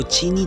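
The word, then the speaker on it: Qin: Chinese शब्द चीन से इसे लेखक क्यूआई एन कर दिया जाता है लेकिन प्रोनाउंस चीन किया जाता है चीन ऐसे पुरानी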